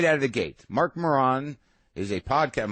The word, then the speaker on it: Maron: And then he looks up, and we start, and he mispronounces my name right out of the gate. Marc Maron is a podcast. I'm like, Maron.